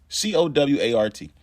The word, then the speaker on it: Cowart: C-O-W-A-R-T. He's a white supremacist, pled guilty in 2010 to plotting the assassination of then presidential nominee Barack Obama in 2008. His name is Daniel Cowart. That's how it's pronounced, and that's how we're